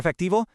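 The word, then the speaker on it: efectivo: For effectivo, that V sound is really soft, almost like a B.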